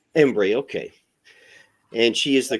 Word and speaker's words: Embree: Systems in Austin today we're joined by ombre is that how I pronounce it is that correct close embre embre Okay and she is the cretive director for